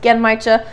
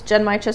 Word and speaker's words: Genmaicha: I've also heard it pronounced Genmaicha, but I did work at a tea shop and we pronounced it as Genmaicha, so that's what I'm gonna go with.